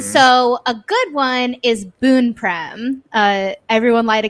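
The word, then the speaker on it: Boun: them say each other's names i will say boone went live this morning and i was listening to it and he kept saying boon over and over which was very helpful because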